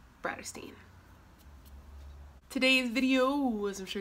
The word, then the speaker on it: Bratterstein: name is and my channel name is pronounced brighter Steen today's video was I'm